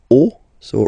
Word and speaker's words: os: the end, but then same rule, you don't pronounce it. Des os, okay?